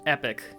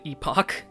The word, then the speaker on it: epoch: to start ok so this is apparently pronounced epoch rather than epoch shows how much I